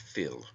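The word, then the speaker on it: fuil: from the Irish word Phil f-u-i-l pronounced Phil meaning blood it also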